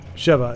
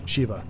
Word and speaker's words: Sheva: But I'll just remember it is pronounced the way it should be pronounced, which is the short E, so Sheva instead of Shiva.